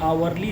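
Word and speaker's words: hourly: आवरली report, आवरली में H silent है इसलिए यहाँ पे एन लगा है।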